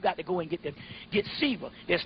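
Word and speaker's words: Siva: Shiva, yeah, it's S-I-V-A, but it's pronounced Shiva.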